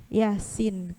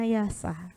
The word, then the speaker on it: Yasin: Untuk ayat yang pertama, Yasin. Kalau kita sangat tidak tahu ilmunya, ada yang bacanya Yasa.